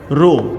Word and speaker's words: rho: It is pronounced as rho. RHO is a Greek letter, and it is also